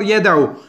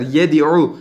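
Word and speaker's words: يَدَعُ: Sonunda da boğaz harfi olduğu için Araplar yedeu şeklinde telaffuz ettiler. Yedi'u şeklinde telaffuz etmediler. Yezeru'dan da vav'ın hasf olmasının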